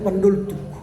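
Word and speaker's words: Van der Tuuk: Sama dengan Van der Tuch kan. Orang Batak tidak ada huruf V. Maka dibaca Pandortuk. Pandoltuk. Van der Tuch itu dibacanya Pandoltuk.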